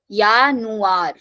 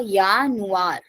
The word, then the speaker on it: Januar: Okay, so der Januar, as I told that if a word is starting from J, pronunciation will be of Y. So Januar, yeah, Januar.